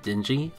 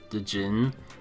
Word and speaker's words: Djinn: you collect little characters known as Dingy, or Dijin. One of those two pronunciations is correct. I always go with Dijin, though.